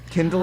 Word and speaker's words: Kindle: Kindle is how you read it, and Alexander is?